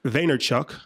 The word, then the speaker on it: Vaynerchuk: Gary Vaynerchuk. Yeah. Did I pronounce that correctly?